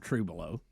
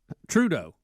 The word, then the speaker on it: Trudeau: you say his name it's not true below Trudeau that's it Justin Trudeau right yeah Trudeau uh to keep marijuana